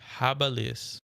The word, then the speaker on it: habilis: Give me the pronunciation. Cetacean. Cetacean. Cetacean. Cetacean. I got it right. Oh my god. Okay. H. Habilis.